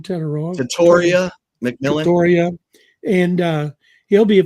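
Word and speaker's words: Tetairoa McMillan: How do you pronounce his name? Tatoria McMillan.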